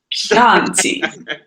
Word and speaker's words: Chianti: It's pronounced Chianti. Chianti.